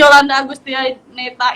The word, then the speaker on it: Yolanda Agustianeta: Nanti salah salah pengucapan gawat kita nih potong kambing lagi ya kan. Jadi Yolanda Agustianeta ini merupakan kawan seperjuangan saya dulu nih sih.